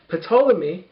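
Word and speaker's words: Ptolemy: king of Egypt Egypt potolami spelled like pterodactyl but we actually pronounce the p and the T not like so this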